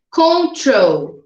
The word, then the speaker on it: control: em duas sílabas mas o control é mais forte no final aqui na última sílaba dele então tem consoante e